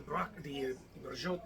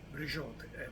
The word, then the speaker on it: braciole: It's pronounced differently, different people. It looks like Braciole is the closest, right? Braciole.